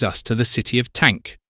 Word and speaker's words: Tank: This brings us to the city of Tank, which is pronounced Tonk for the same reason apparently that the English call halfpenny Ha'penny and St.